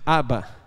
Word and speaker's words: Abba: palavra pai ali tá a pronúncia está errada mas é Abba aquele desenho embaixo ignora